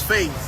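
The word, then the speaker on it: Fayz: My name is Faze. Faze, spell that.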